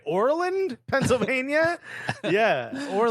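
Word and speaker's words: Oreland: I'm pronouncing it right Orland Pennsylvania yeah we're like it's like Ireland with an O because we want to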